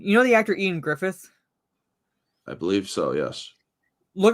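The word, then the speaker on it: Ioan Gruffudd: So it's like kind of like the actor Ian Griffith? I believe so, yes. Look up how his name is actually spelled, and you're like, how the fuck are you getting Ian Griffith from that?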